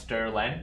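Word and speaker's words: strlen: see another example so this uh pronounced Sterling it kind of stands for string length this one is in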